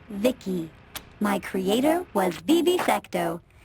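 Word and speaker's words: VICI: Sadly, by the way, I'm V I C I pronounced Vicki.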